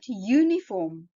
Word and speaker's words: uniform: A We look at the word uniform. It is spelled with a U, which is a vowel. But if you pronounce it, it is y. It sounds like a y sound, which is a consonant sound.